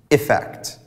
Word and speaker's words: effect: As for the verb, it's a neutral sound, affect, whereas in the noun, we change the pronunciation to the E sound, effect.